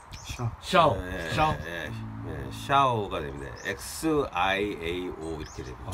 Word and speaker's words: 孝: 샤오 샤오 샤오 샤오가 됩니다. XIAO 이렇게 됩니다. 아. X요? 네, X로 발음합니다.